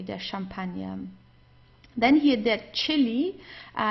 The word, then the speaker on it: Chili: Then here, that chili, here it's pronounced just as in English as a ch, okay, that chili, or or just the Spanish way also, okay, like chico, but here it's like the chili in this case.